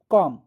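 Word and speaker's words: comb: Tom Baum कॉम आया समझ? हम टॉम पढ़ रहे हैं, बी नहीं पढ़ते हैं। बॉम पढ़ रहे हैं, बी नहीं पढ़ रहे हैं। कॉम पढ़ रहे हैं। बी नहीं पढ़ रहे हैं। मतलब यहां पर बी साइलेंट लेटर है।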